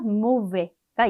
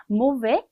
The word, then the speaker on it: mauvais: 나쁜의 의미를 갖는 형용사 mauvais가 있어요. mauvais, S 발음하지 않았지만 여성형으로 만들 때 을을